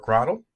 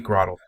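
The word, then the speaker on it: Grotle: sometimes we have Turtwig grotto or krodel and that's gotta be grotto grotto like a like grotto so turnt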